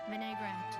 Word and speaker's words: vinaigrette: Vinaigrette is the only pronunciation.